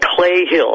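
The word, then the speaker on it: Cley Hill: in a place called Clay Hill. It's spelled C-L-E-Y, Clay Hill, in Wiltshire, in the south of England.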